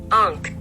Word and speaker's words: ankh: a creepy face with this one so it's pronounced Unk or key of life as an ancient Egyptian